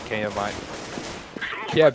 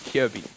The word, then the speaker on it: Kjærbye: He'll make another frag Kjaerbye. Kjærbye. I keep saying his name wrong. Kjærbye.